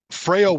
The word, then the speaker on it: Frayle: So Frail would open up for them, and it's spelled Frayle.